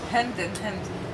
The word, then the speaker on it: Hind: You know, in reality, we have the same name in Arabic, Hind. But my mother is Belgian. Oh, I'm half-half. So my mother chose to pronounce it Hinde. Ah. So the European way for my name is Hinde. But for her, no, because I'm she's really Tunisian, so it's right.